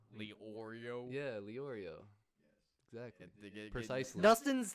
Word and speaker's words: Leorio: So it's like Arrow. It's like Lee and Oreo. Leorio.